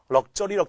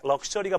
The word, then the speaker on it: luxury: luxury 우리 럭저리 그러는데 럭셔리가 바로 뭡니까? 그렇죠? 예, 사치입니다.